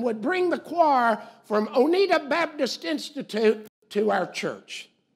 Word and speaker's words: Oneida: Now, we pronounce Tennessee Oneida, Tennessee, but this is Oneida, Kentucky.